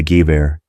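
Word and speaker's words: Gewehr: The Germans the Gue, pronounced Gu, German for rifle 98.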